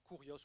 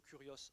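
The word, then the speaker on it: Κύριος: Mais la Bible nous dit, il faut que tu acceptes que Jésus est, en grec, le Kyrios, K-Y-R-I-O-S, qui se prononce Kurios ou Kurios en grec.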